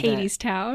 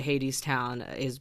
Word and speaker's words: Hadestown: And Hadestown. Oh, perfect. Okay. Great.